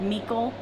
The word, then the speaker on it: Micheal: the last part the the old time like meekle maybe it may be pronounced that way michael nicole and then it's